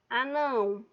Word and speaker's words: anão: Por exemplo, anão. O não é minha sílaba tônica e ele está no último, então eu digo que essa palavra ela vai ser oxítona.